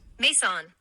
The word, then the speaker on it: Maison: Maison, pronounced Maison, recorded my doctoral graduation.